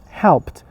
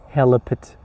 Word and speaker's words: helped: You cannot say help. Help it. Help it is wrong. You should say helped. Helped because h e l pronounced altogether and then uh l p e d all together.